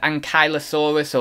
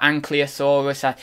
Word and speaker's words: ankylosaurus: jurassic world mercenary and ankylosaurus or unclear sorcerer there's kind of two ways I've known to pronounce that because I had like